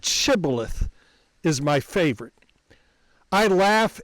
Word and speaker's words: Shibboleth: The dialect between saying Shibboleth instead of Sibboleth led you to know whose side you were on.